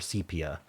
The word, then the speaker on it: sepia: Is this sepia? I think it's sepia. Okay, or sepia. I said it wrong for so long. I just can't handle it. Um sepia is the correct pronunciation.